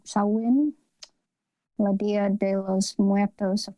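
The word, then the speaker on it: Samhain: the one word uh looks like Tom Payne but I think it's some sauwin ladia de los Muertos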